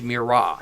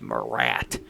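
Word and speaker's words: Murat: So my temple is Mirra. And people if you listen to clear channel is not pronounced Morat. We have no goddamn Morat at Mirage. It's Mirra. It's French and it's not Morat.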